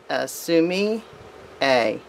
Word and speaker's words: sumi-e: So it's pronounced sumi-e.